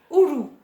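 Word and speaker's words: uru: Je vous propose le ourou. Le ourou, c'est quoi? Ça s'écrit U-R-U, c'est le fruit de l'arbre à pain.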